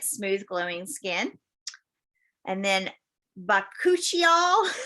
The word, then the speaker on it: bakuchiol: And then bakuchiol, that's really how it's said.